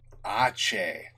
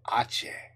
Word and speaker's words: Aceh: Aceh. That's how you say it. Aceh.